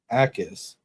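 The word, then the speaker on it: Jacas: Gabe Ais. The Jay is silent.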